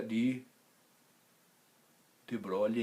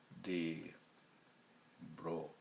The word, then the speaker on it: de Broglie: Acontece que de Broglie não. De Broglie acentua a penúltima, o bro.